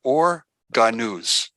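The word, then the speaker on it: אור הגנוז: or, and the hidden or, which is called or ganuz. Or ganuz. Now, for some of you, if you want to spell it out, it's O-H-R, and the second word is H-A-G-A-N-U-Z, or ganuz.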